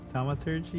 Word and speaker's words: Thaumaturgy: It's called I don't even know how to pronounce this. Let me see. Thaumaturgy? Thaumaturgy? Mhm. Thaumaturgy, yeah.